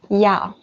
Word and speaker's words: 要: The pronunciation is 要.